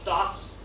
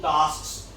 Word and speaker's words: tasks: Actually, I'm pronouncing K. Tasks. But this is quite difficult, right? So, if I say, I can say that there are two tasks. We can drop the K.